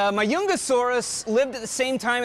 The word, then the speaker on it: Majungasaurus: newest skeletons okay uh this is majungasaurus or my youngest it's spelled with a j so i keep uh trying to put the j in there too but my youngesaurus lived at the same